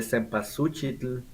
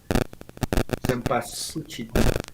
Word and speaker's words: cempasúchil: We have the cempasúchil flowers. I can never pronounce it. Cempasúchil. Cempasúchil. Cempasúchil. Como el tacuache at the end.